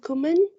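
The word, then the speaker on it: Ghumman: what's your um what's your last name uh cumin and how do you spell that uh g-h-u-m-m-a-n ah there it is okay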